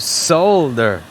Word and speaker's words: solder: I'm going to cover it in a pile of solder. Solder. Oh my god, the Europeans are getting to me. I pronounce solder with an L.